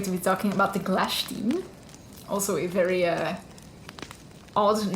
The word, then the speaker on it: Glashtyn: so i'm going to be talking about the clash team also a very uh odd name at least odd to me um but as i've heard in some youtube videos it's actually pronounced glash team yeah however there are that sounds yeah better